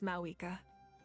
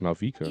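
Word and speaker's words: Mavuika: This time, just as Mawika.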